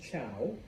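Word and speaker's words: Zhou: The Shang introduced, various things into Chinese culture, but there's another group, and yes, I know it starts with a Z, but it's pronounced Chow.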